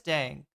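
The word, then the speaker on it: แดง: Um red is dang. Um right d like dang.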